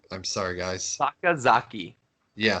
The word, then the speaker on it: Sakazaki: Sakazaki. Yeah, Sakazaki.